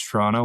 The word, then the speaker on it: Toronto: Major cities, Toronto, Ottawa. And I grew up about an hour north of Toronto. And it is Toronto. We don't pronounce the second T.